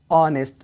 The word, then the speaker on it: honest: words like honor, our, honest, like this. So honor, in this word h is silent. Our, in this word h is silent. Honest, in this word h is silent.